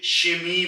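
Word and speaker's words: Chemie: और इसी तरीके से सी एच यानी कि से और हा जब मिलेगा तो ये शमी बन जाएगा शमी कहीं जगह पर इसको केमी भी कहा जाता है बट अक्सर लोग इसको शमी कहते हैं और शमी का मतलब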